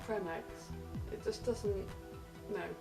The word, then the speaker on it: Creme Egg: Also, have you seen that cream eggs aren't pronounced cream eggs, they're pronounced creme eggs?